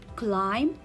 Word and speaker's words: climb: a silent letter when when it comes after letter m i will not read letter b it will be a silent letter and if it comes